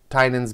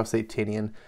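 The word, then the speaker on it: Tynion: was going to make an exception for tinney tynan's ba i always saw satanian it is pronounced tynan doesn't look like it um whatever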